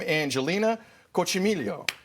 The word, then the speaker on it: Angelina Coccimiglio: We welcome Angelina Coccimiglio here to Breakfast Television. Angelina, first off, did I get the pronunciation correct?